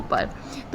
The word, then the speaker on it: प्रातः: देखिए त के बाद ह का उच्चारण हो रहा है।